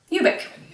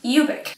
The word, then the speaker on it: Ubik: His name rhymes with the book title. It's funny. That's what it's called, right? Ubik.